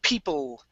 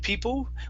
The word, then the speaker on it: people: at uh the word people make sure to pronounce an l at the end instead of people with an uh it's people make sure your tongue is touching the top of your mouth people people there you